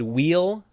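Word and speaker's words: Weil: English to this but I think it's supposed to be German so the W should be pronounced like a V so I think maybe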